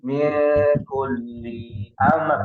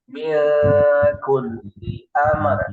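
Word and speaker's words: من كل أمر: Nah, li-nya tidak ada jeda. Min kulli amr. Li amr. Sekali lagi. Kulli amr. Nah, seperti itu. Jadi bukan min kulli amr lah. Min kulli amr.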